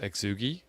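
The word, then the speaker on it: Xiegu: did that last year g90 first off it's pronounced exugi i've watched your videos i know it's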